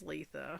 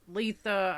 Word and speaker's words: Litha: It is Litha. It is? Yes. It is, the correct pronunciation is Litha.